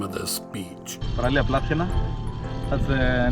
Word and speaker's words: Plathiena: Because I know I'll butcher the name, I'm going to let my young Greek friends pronounce the name of this beach. Plathiena, that's the name of the beach.